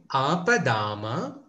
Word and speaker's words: ఆపదామ: So you need to have a longer sound there.